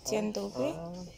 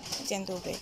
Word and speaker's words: dzień dobry: Is it dzień dobry? How do you say it? Dzień dobry.